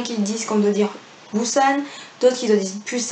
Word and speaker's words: Busan: pusan du san je sais jamais comment devait prononcer cet accord un qu'ils disent qu'on doit dire busan toi qui le dit plus anne je pense